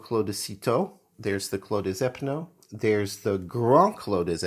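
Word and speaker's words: Clos des Épinots: When there's an S in the word that comes before a vowel, such as des Epinots, you pronounce the S like a Z. So instead of saying Clos des Epinots, you say it all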